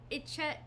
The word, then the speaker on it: Echidna: Echidna. In ancient Greece, like, they used to pronounce the CH as like a hard C, so it might be Echidna.